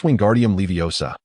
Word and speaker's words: Wingardium Leviosa: "It's Wingardium Leviosa. You must pronounce it more clearly.